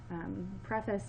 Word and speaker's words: preface: preface right here again it spelled the same way as prefix would be or prehistoric but it's got a bit of an accent change preface means literally fantastic before